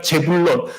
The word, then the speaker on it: 스불론: 제배드가 재불론. 스블론이 온발음은 재불론입니다.